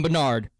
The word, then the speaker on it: Bernard: I'm Bernard. Well, this short call is... Like, it rhymes with Leonard.